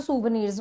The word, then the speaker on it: souvenir: एंड बाकी जो सुवनीर्स, what are सुवनीर्स, सुवनीर्स क्या होता है, प्रोनाउंसिएशन आप बिल्कुल ठीक से करना। जो भी आप बोलते हो वो नहीं बोलोगे। इट्स सुवनीर, again it's a French word.